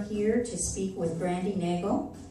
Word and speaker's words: Nagel: to speak with brandi nagel rhymes with bagel and her company is